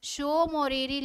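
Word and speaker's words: Tso Moriri: सोकर लेक के नीचे कौन सी झील आ जाती है आपकी, शो मोरीरी लेक। यानी शो मोरीरी लेक। इसमें टी क्या है आपका, साइलेंट है।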